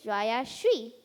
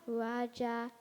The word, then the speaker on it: Rayashree: My name is Rya Shri, but for the longest time I went by Rya, so it' be easier for others to pronounce. I've been called Rya, Raja, and you won't believe it, even a radio ones.